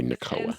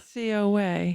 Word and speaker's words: NCOA: I wouldn't say NACOA. NCOA.